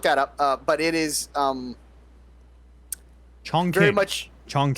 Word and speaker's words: Chongqing: You look that up, but it is Chongqing.